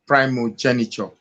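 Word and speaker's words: primogeniture: Now the first and foremost the word is actually pronounced primo primogenature.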